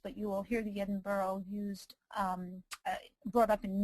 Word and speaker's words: Edinburgh: you know just to point out it's it's pronounced Edinburough because it comes from Edinburough Scotland so um